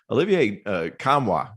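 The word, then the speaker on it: Olivier Nkamhoua: And I think the guy who could step up and have a huge year for this Volunteer team, Olivier Kamwa, did I pronounce that right?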